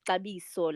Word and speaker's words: Xabiso: spelled differently from so my actual name is gabiso like with an s so that's my second